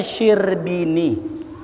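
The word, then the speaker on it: Syirbini: ada kalimat syar'i ini bukan syarbi ini bacanya sirbini itu ada satu kitab Imam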